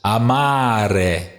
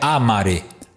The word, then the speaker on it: amare: Vamos, por exemplo, aqui, ó os verbos amare, viu? Não é amare. Por que amare? Porque esse verbo é infinitivo presente e ativo. E aí a terminação aqui, are, tá vendo? Portanto, amare é uma paroxítona, porque aqui está a sílaba longa no meio.